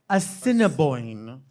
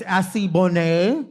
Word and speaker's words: Assiniboine: And I think that the name is Assiniboine, but we thought it was Assibonne.